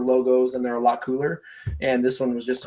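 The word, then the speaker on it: Kuhl: It's called Cool. And it's spelled K-U-H-L.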